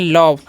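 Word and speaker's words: love: अब आगे देखिए क्या लिखा हुआ है एल ओवी ई तो इसे हम क्या पढ़ते हैं इसे हम पढ़ते हैं लव लव का मतलब क्या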